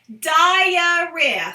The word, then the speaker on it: diarrhea: at home right now practice it diarrhea three syllables diarrhea diarrhea I have